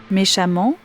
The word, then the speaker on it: méchamment: A2 m NT exemple méchamment a2ment et élégamment A2 m vous noterez que l'on prononce de la même façon amant les deux graphies voici les points à